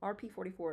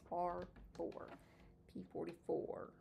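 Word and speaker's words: R4-P44: Oh, R4P44, not R4. Wait, RP44 is what I always want to say, but it's R4P44.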